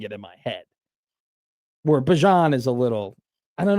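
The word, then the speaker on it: Bijan: You've all been pronouncing it wrong for the last three decades. Like Bjon.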